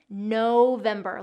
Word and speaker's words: November: Long O in there, like you're saying no. November. The other piece is getting that V on your lip. Okay, it's not November with a W. It's November with that V sound.